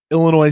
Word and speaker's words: Illinois: moving forward because i'm facing illinois silent s this week wow that's